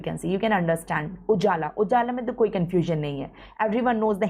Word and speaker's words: UJALA: in your exams ujala please pronounce it see the spelling and pronounce ujjala in Hindi it is written like that ujala means light roshni